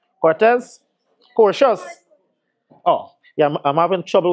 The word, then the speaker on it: Cortez: Cortez, I'm pronouncing the name correct? Cortez? Cortez.